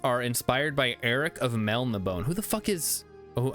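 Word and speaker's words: Melniboné: I think it's supposed to be pronounced Melnibone because there's an accent over the E.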